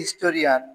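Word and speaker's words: historian: যেমন Babul is এ হিস্টোরিয়ান, হিস্টোরিয়ান এইচ এর উচ্চারণ হয়েছে, হিস্টোরিয়ান বানান এইচ আই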